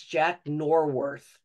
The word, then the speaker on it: Jack Norworth: Ball Game she has corrected me and saying that it's Jack norworth so thank you Perry I think I misspoke I think I knew that but I just didn't say it right the other thing I